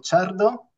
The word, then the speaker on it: Ciardo: la invitación como bien habéis dicho soy chardo muy bien pronunciado Enhorabuena italiano orgulloso de ser italiano y